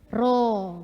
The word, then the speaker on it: rho: Rho, bacanya rho ya.